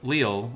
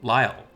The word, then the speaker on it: Lyle: told on twitter that i've been saying the wolf's name wrong so instead of leo we're going to go to lyle so just a little